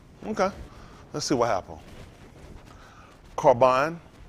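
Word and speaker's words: Corban: let's see what happened carbine carbine is how they say pronounce it something brought near the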